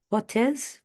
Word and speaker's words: portez: And then vous portez, P-O-R-T-E-Z. About the pronunciation, it's close. However, the Z isn't pronounced. On prononce pas le Z.